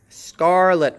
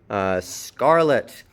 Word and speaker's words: Scarlet: Scarlet with an unreleased T. PTK, BDG at the end of a syllable is unreleased. Scarlet.